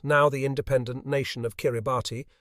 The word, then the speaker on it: Kiribati: The Gilbert Islands, now the independent nation of Kiribati, pronounced Kiribati, lay across the equator, extending more than 400 miles from southeast to northwest, and covering 200,000 square miles of ocean.